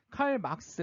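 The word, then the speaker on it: 칼 마르크스: 그냥 사회주의가 칼막스가 말한 칼 막스 마르크스죠 독일 사람이니까 칼 막스가 발음이 맞는데 독일 사람들이이 독일 사람 막스가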